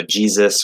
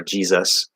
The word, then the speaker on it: Jesus: So Jesus or Jesus. So the first S is a Z sound. The second one is an S sound.